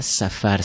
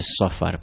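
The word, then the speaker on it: صفر: On ne dit pas Safar, c'est Safar, parce que écriture, c'est Sad, c'est pas Sin.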